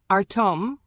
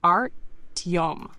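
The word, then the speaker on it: Артём: Artem, the R is lightly rolled, soft, T, and yom sounds like yom with a soft we onset. So it's like Art-yom with the stress on the second syllable.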